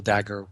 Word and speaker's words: Dagher: Facebook so back dagger one and Dagger is spelled d a g h e R uh d a g h the H is silent e r yes great